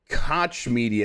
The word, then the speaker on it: Koch Media: minardi at gamesby uh koch media is actually how i think you're supposed to say it but you're supposed to say it with a german uh accent so it's koch koch media um announced today that